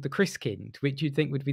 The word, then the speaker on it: Christkind: And so the Christkin, is that how you say it? the Christkin? Christkind, yeah, it means Christ child, but it isn't what you'd think of as a baby Jesus.